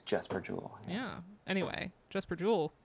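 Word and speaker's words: Jesper Juul: I thought it was Jesper Jewel this whole time. I just assumed. Yeah. Not maybe the YouTube video is wrong. Who knows? But Yeah, we looked definitely up could like be. how to pronounce, and the Uh, YouTube video said Jesper Jewel. there So are people on the internet saying it's Jesper Jewel.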